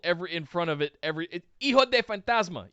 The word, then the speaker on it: Hijo de Fantasma: It's de, not del. Yeah. Why are they doing del? Del, I can understand why. I've mixed that up sometimes too, of the Fantasma, but it's of. Yeah.